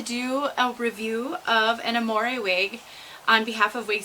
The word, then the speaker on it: Amore: I always say Amore, so I'll probably switch back and forth in this video, but I believe it's pronounced Amore.